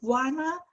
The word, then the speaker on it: Juana: It's Juana, pronounced like Moana, but without the M.